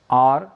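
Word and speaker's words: hour: हम ओ से शुरू करें, आर, ऑनररी, ऑनररी, यानी प्रोनाउंसिएशन कहाँ से, ओ से आ रहा है, एच साइलेंट के रूप में लगा है।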